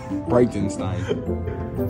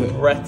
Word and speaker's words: Breitenstein: You said it wrong. Breitenstein. But that's what I said. So you said Breitenstein. It sounded like Breitenstein. Right. Breitenstein. Alright, so I'm here with Alex. Okay, wait. Bright. Bright.